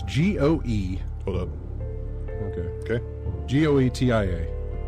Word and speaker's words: Goetia: Welcome back again to In-Game Chat music here from, how would you pronounce G-O-E? Hold up. Okay. Okay. G-O-E-T-I-A. Goetia?